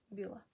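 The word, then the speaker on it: bílá: червена червона біла біла ну це біла маємо наголос над і і над а тоді біла жлута жлута жовта потім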